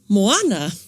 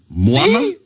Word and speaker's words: Moana: So it's moana moana. Moana. So there's a different stress. Yeah. Yeah. There's a different stress. We stress in the first syllable of the word in this context.